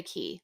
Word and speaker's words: Cay: They own Castaway Cay, which it pains me to say Key. Like it's spelled Cay. I can't. Castaway Cay sounds better to me. I agree, but that's not the actual name.